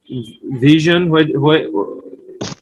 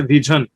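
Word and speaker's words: vision: তাহলে ভিশন মানে হয়ে গিয়েছে ভিজন।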